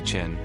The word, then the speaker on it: Qin: The name of his dynasty Chin is pronounced like Chin.